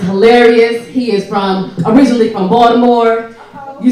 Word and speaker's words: Baltimore: He is originally from Baltimore. You say it right? Baltimore. Baltimore.